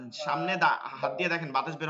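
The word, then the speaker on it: ث: ভালো করে খেয়াল করব এইটা বাংলায় হবে না জিহ্বার আগা এই যে দুই দাঁত আছে এই দুই দাঁতের গোড়ায় লাগাইছিলাম হচ্ছে তা আর এই দুই দাঁতের আগায় আগায় কোন শব্দ আসবে না এক নম্বর হচ্ছে কোন শব্দ আসবে না কোন শব্দ আসবে না ঠিক আছে কোন শব্দ আসতে পারবে না নরম উচ্চারণ করতে হবে বাতাস বসবে এটা তাফাসসির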